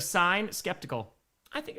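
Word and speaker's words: sine: Pronounced it sin instead of sign.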